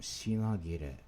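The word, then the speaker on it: 品切れ: Kire on the right side, pronounced gi here because of its connection to the na, which is a spoken consonant or spoken syllable.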